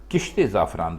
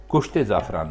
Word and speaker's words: کشت زعفران: بھی اس کو بولیں اس کو تو کشت زعفران بولیں، کشت زعفران نہیں بولیں۔ تو خواتین حضرات، یہ